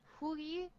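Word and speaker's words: Hou Yi: Is that how you pronounce Hu it? Yi. Hu Yi.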